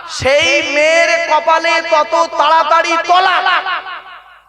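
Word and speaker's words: طلاق: তালাক নয়। তলাক। তালাক মানে জুড়ে যাওয়া। মিলিত হওয়া, একত্রিত হওয়া। আর তলাক মানে পৃথক দেওয়া, ডিভোর্স দেওয়া, ছেড়ে দেওয়া। আমরা তো তলাক না বলে সব তালাক বলি। এজন্য উচ্চারণটা ঠিক করুন।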